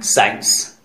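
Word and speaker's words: science: एस सी आई ई एन सी ई, pronunciation साइंस. इन तीनों में देखिए एस के बाद सी आया है, इस कंडीशन में भी सी साइलेंट रहता है.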